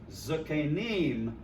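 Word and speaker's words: זקנים: Zakane becomes Zakenim because it's the third syllable from the accent.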